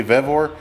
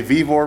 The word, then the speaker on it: VOR: is by the company VOR a lot of people say vivor but it is spelled the same v v o r so check them out